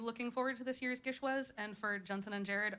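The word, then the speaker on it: GISHWHES: So this year's going to be my 4th Gishwez.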